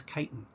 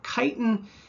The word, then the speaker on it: chitin: is something known as chitin incidentally if you see CH at the beginning of a word and the word is derived from Greek it's pronounced as a hard K just something you might